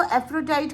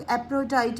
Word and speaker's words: Aphrodite: कुछ लोग इसको एफ्रोडाइट करते हैं, PH साइलेंट हो जाता है, और कुछ लोग एप्रोडाइट भी इसको प्रोनाउंस करते हैं।